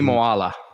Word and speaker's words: Moala: Like, give us the pronunciation. Ami Moala.